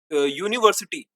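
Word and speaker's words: university: एन क्यों नहीं लगाया, क्योंकि यूनिवर्सिटी का उच्चारण यूनिवर्सिटी कॉन्सोनेंट साउंड से होता है। ठीक है, कॉन्सोनेंट साउंड से इसका उच्चारण हो रहा है ना, यूनिवर्सिटी, यूनिवर्सिटी।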